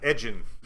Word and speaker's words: Edgin: Is that how you pronounce his name? Yeah, Edgin.